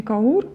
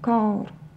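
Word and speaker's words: Kaur: Моха Ар кар и всегда в сочетание этих звуков ударение падает на первый звук А да а не каур а кар перейдём к звукам которые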